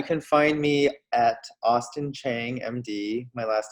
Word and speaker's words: Chiang: um yeah you can find me at austin chang md my last name is spelled c-h-i-a-n-g it's the same on all platforms